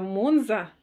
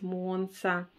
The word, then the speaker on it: Monza: Я ее опять называю монза, но это по привычке уж, простите. Вот, можете, конечно, меня поправить, но мы помним, да, что правильно говорить монса.